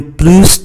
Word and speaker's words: plus: conduisez, vous courez bien plus de risques que les autres. Chữ plus này chúng ta phải phát âm chữ S bởi nó đi trước một cái danh từ plus de.